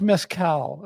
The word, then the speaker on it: mezcal: It's pronounced mezcal.